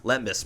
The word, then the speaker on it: lembas: Did I pronounce that right? Lambda bread? Limbus. Lembus bread.